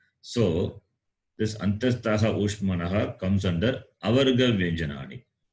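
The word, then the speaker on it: अन्तःस्थाः: Antastaha.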